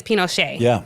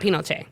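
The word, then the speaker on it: Pinochet: pronounce his name um Pinoce oh Pinoch yes Pinocha not Pinoce right Pinoch Pinocchio.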